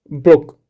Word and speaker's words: brook: streamlab okay you know the right pronunciation of the book is brook brook not broke okay brook brook and